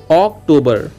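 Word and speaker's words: October: अब देखिए दोस्तों, अक्टूबर आप गलत पढ़ते हैं, स्पेलिंग देखिए ओ सी यानी के ऑक, टी ओ यानी के टो, ऑक टो, बी ई आर यानी के बर, यानी कि इसको हम पढ़ेंगे अक्टूबर, अक्टूबर।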